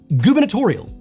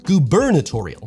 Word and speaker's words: gubernatorial: Now that you've hopefully had a go at pronouncing it under your breath, I can tell you it's pronounced gubernatorial or gubernatorial.